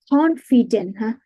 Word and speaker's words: confident: That, like confident, huh? We have to stress on the first syllable.